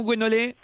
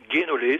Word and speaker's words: Guénolé: Je prononce bien votre prénom, Gwenolé? Guénolé, ça, mais bon. Ah, on dit pas Goué, on dit Guénolé.